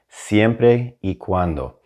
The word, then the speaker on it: siempre y cuando: phrase of the day is going to be siempre e cuando now you may know those words already separately